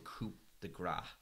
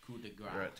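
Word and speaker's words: coup de grâce: Bill Skarsgård, being the coward he was in this, goes, I want the coup de grace. I hope I've pronounced that right. Coup de grace. Coup de grace. I was pronouncing the P.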